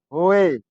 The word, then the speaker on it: hoe: kedua o kedua e ditulis hoe diucapkan ho jadi bahasa Inggrisnya Pacul